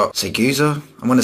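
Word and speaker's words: Siguza: Seguza, it's Seguza.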